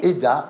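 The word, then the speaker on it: Hedda: Eda, H-E-D-D-A. Mais oui, exactement, ça voilà, s'écrit comme nom, ça.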